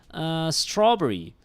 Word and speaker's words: strawberry: strawberry strawberry because yeah because you do press it you do stress it on the straw malay pronunciation strawberry we like to elongate the last vowel that is the malay pronunciation strawberry all right whereas in english american english and british english you say strawberry strawberry you push the straw there right all right uh